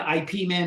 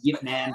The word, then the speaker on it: Ip Man: I mean, every time an IP Man movie come out, yes, I know it's pronounced Yip Man, but I say IP Man.